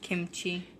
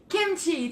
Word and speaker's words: kimchi: spinach cereal I said that's pronounced kimchi kimchi thank you what did I say what I don't know I should be look Kim like the name Thank You Vicki keeping